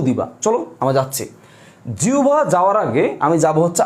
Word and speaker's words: জিহ্বা: আমি লিখলাম জিহ্বা, তোমরা অনেকে জিহ্বা বলো, না ভুল।